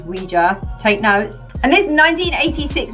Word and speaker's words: Ouija: with a ouija board often pronounced ouija boards which is wrong by the way it is ouija take notes and this